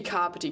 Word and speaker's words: Kāpiti: Let's be kāpiti college, not kapiti college.